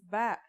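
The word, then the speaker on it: باء: Our first letter of this lesson is Ba. And yeah, it makes a B sound.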